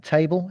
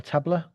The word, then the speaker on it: Tableau: Uh, what are Salesforce uh, table, is it pronounced table or tableau?